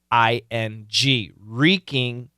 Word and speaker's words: wreaking: a great phrase w r e a k-i-n-g reeking Havoc h-a-v-o-c wreaking havoc okay now you will